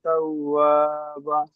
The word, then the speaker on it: توابا: কানা তাও, ওয়াওর উপরে তাসদিদ আছে, ওয়াও দুবার উচ্চারণ হবে। تو ইন্নাহু কানা তাওয়াবা।